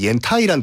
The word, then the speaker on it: 옌타이: 그 이왕 지명 얘기 나온 김에 한 가지 말씀드리면은 그 산동반도에 옌타이라는 도시 있잖아요. 옌타이. 옌타이의 한자를 보면 그걸 연태라고 읽으면 안 돼요.